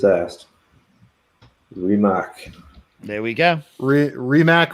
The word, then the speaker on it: Rimac: Rimac, or I think it's pronounced Rimac, is correct.